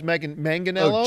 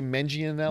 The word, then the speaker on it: Manganiello: It was Manganiello. Oh, Joe Manganiello. A lot of people say Mangianello.